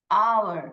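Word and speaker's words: hour: चच आर यहां पर ओ हेच साइलेंट है तो भी यहां पर किसका साउंड पहले आ रहा है अ और आ आवर ऐसे हम बोलते हैं हेड साइलेंट है बिकॉज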